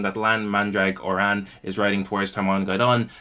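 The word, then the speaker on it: Mandragoran: him saying that lan mandrake or an is riding towards taiwan guidon yes that is how the pronunciation guide i found online said to pronounce lan's surname i don't even have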